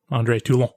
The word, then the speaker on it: Toulon: Like, cause she's introduced as one of the cops that shot Andre Toulon. Yeah. Note the pronunciation.